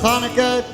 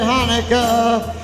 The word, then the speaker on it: Hanukkah: So tell George Gomez and Ann Kaufmanica it's time to celebrate Hanukkah. It's not pronounced Chanukah. The C is silent in Hanukkah.